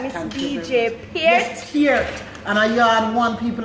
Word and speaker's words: Peart: Yes, Peart. And I yard one people that can pronounce it correctly.